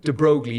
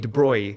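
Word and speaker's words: de Broglie: So my favorite example of this is uh and again pronunciation people argue about this but D brogley de Bruy right.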